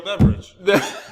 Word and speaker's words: Beverage: It's not spelled like in the normal. It's like Beve and then like ridge, like a hill ridge or something. Right. But it's still. You but pronounce still, it the same.